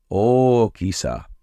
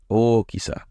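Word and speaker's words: 大きさ: Okisa. Two O sounds at the start. Okisa.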